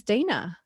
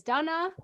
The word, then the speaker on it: Dana: And learning that my heritage is Czech and learning that's why my name is pronounced Dana. So I knew that. And so my whole life I've been correcting people. Mm-hmm. Oh, no, it's not Dana. It's Dana.